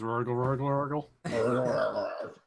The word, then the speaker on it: Rurgle: Before he was just known as Rurgle. Yeah, Is that how you name your goblins? basically. You just kind of roll your R a bunch of times.